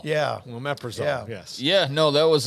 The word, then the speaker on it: Omeprazole: do you say that long word that is Omeprazole yeah well Omeprazole yes yeah no that was a huge win